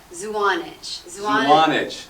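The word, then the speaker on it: Zuanich: Now the event, the Budfest took place at, how do you pronounce it? Zwanich.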